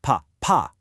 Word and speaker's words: papa: You really have to punch that final syllable, pa, pa. But check out the exact same letters without the accent, papa. Without that little mark, the emphasis naturally falls back onto the first syllable.